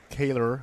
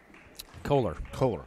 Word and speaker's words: Kaler: Kaler, is that how you pronounce that? Or McKenna Kaler coming into the game for Rams? Kohler. That's Kohler. McKenna Kohler.